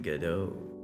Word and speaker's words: Godot: Yeah, it's Godot. It's Godot. Little game engine. That's how you pronounce it. I think there's a lot of ways to pronounce it, but I think that's the general way people have agreed on.